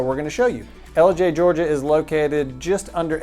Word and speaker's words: Ellijay: don't know this one isn't as hard to pronounced as Dela Georgia but it is LJ and it is in Gilmore County you might